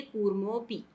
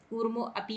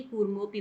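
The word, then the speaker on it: कूर्मोऽपि: लेकिन बोलते समय हम इसका उच्चारण नहीं करते, इसको हम पढ़ेंगे कूर्मोपि। कूर्मो अपि नहीं बोलेंगे, कूर्मोपि बोलेंगे।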